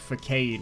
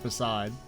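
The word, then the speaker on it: façade: And of course, me being a kid, I called it facade because that's the way it's fucking spelled. And I was like, I don't know, 6, 7? And so sometimes, even though I know that's not how you say it, it still will slip in. And I want to call it facade instead of facade. Or like a mix of the two.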